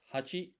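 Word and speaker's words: 八: And then 8 is pronounced hachi, and the kanji for it is this.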